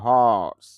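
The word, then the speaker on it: horse: হর্স যদি আমরা হর্স বলি, কিন্তু র সাউন্ডটা হবে না, এই জন্য সাউন্ড হবে হর্স, অর্থ হলো ঘোড়া।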